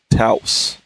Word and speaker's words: Taos: So Taos is how you say his name.